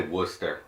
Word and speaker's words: Worcestershire: So instead of using soy sauce or Worcestershire, if that's how you say it. I just say Worcester.